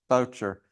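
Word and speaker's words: Bourchier: but I discovered in Bulgaria that the correct pronunciation is voucher and if you just um look at the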